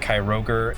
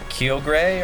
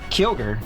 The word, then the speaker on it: Kyogre: it was kai roger i say that but there's no r before so once again it's probably like kyogre or something like that it's k-y-o-g g-r-e kyogre kyogre i mean it's